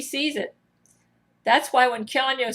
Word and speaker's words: Keanu: I also do not think that she can ever be Keanu's sex dummy. By the way, the name is pronounced Keanu, not Keanu, from Keanu Reeves himself.